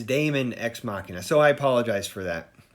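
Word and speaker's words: Daemon X Machina: name which I did I had said machine or diamond ex machina and it is Damon ex machina so I apologize for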